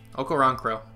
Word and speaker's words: Okoronkwo: Okay, so actually we have, how do you pronounce this? Okoronkwo? Okoronkwo.